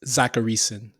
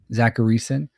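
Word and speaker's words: Zachariason: How you pronounce it? Zacharyson. Zacharyson, late round QB on Twitter.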